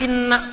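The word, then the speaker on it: إنا: Masih ingat tadi kalimatnya menggunakan inna, pendek atau panjang? Gimana bacanya? Inna. Saking tingginya proses penurunan Al-Quran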